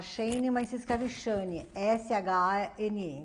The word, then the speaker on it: Shane: O meu nome se fala Shane, mas se escreve Shane, S-H-A-N-E.